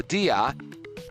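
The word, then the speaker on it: día: However, dia dia is uh two syllables. D a and you put the accent on the I to separate the vowels.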